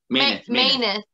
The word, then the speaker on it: Mineth: Maineth. Yeah, I know it's crazy looking, but in the game, that's how they say it.